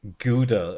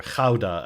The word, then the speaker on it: Gouda: cheese in this country like gouda or ghauda as it's actually pronounced that's like the normal cheese people have